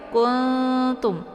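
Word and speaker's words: كُنتُم: Jadi cara bacanya itu kuntum, kayak digantungkan gitu ya. Kuntum, jangan kuntum. Jangan langsung ya, tapi disamarkan bunyi nunnya dan dengungnya sedikit saja ya.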